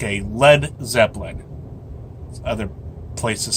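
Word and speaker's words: Led Zeppelin: go down like a lead Zeppelin other places say he said let balloon Jimmy liked the phrase and misspelled led so that and I quote those stupid Americans won't pronounce it lead Zeppelin happy birthday Jimmy great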